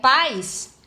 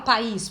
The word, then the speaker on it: pais: vogal semivogal Elas têm que estar numa mesma sílaba então aqui ó é pais não é o aqui é pronunciado com mais força não falo país porque se for país o seu assento Então